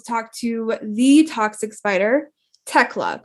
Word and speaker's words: Thekla: to the toxic spider tecla correct the h is silent yes yes okay from